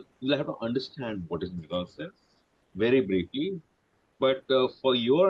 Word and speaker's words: mise-en-scène: In the original French, mise-en-scène, pronounced mise-en-scène, means putting into the scene, and it was first applied to the practice of directing plays.